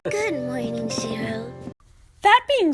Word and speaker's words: Shirō: Also, the narrator mispronounces the name of Ilya's stepbrother, Shiro, as Shiru. This is especially egregious because right after the narrator says his name, there's a clip of Ilya pronouncing his name correctly.